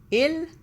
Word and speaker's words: il: The next singular subject pronoun is il and elle. Il, elle. We generally refer to things as it, such as table, book, car. In French, il meaning he or it, you can say, and